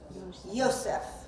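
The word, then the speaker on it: יוסף: see and for example in Hebrew Joseph appears in it pronounced how Yosef okay and by the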